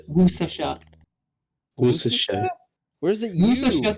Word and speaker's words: Worcestershire: pronounced Worcestershire.